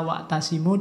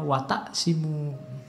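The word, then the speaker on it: واعتصموا: saking semangate mocone keleru harusnya watasimu Dia membacanya watakimu Yo Mungkin enggak hati-hati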